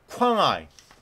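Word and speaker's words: Quảng Ngãi: 두산이 2000년대 후반에 베트남 아 쾅아이 쾅아 아이라고 발음을 하면 될 것 같아요.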